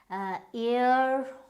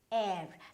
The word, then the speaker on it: heir: Okay, now the next word is H-E-I-R, right? Now you might pronounce it as ear or here, right? But it is none of these. It is air.